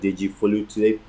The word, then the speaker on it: Deji-Folutile: Hey, Yoruba is an ethnic division in Nigeria, so his the right pronunciation for his name is Dr. Dejifolutile. Dr. Dejifolutile has been, as I said initially, in the